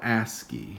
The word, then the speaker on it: ASCII: the coding system that we use it's called ASCII which maybe is something you've heard of that's how it's pronounced at least which stands for American Standard